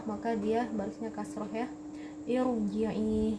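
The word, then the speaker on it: ارجعي: Irji'i. Jadi ro di sini karena kasrohnya bukan kasroh asli, maka bacanya tebal, irji'i bukan irji'i, karena kasrohnya ini kasroh tidak asli ya.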